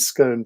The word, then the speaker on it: scone: saying that that in Yorkshire apparently snide is pronounced sneed, but maybe it varies a bit like scone and scone, perhaps.